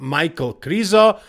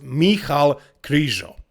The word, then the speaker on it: Michal Krizo: No, not Michael Krizo. I know that's how you guys call him, you Americans, but actually his name is pronounced Michal Krizo.